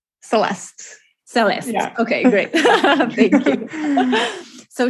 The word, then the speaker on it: Celeste: Did I pronounce that right? Celeste.